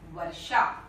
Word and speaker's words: वर्षा: आप देख रहे हैं मूर्धन्य श है, यहाँ पे दंत स लिख दिया है मैंने, और व की जगह पर ब लिखा था, तो ये गलत हो गया। तो होना चाहिए शुद्ध उच्चारण है वर्षा।